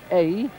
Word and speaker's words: Ay: In fact, Mejia, when we came through the village of A, that's pronounced, that's spelled A-Y, it's the smallest name in the French language, I think.